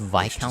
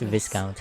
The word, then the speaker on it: viscount: It's called It's pronounced Vikount. See, Dandelion, I always thought it's Viscount.